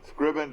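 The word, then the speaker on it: Screven: No, Scriven, Georgia.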